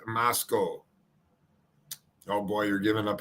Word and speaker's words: Moscow: We're going to go, I'm sorry, Moscow. So I have been pronouncing it wrong. It is Moscow.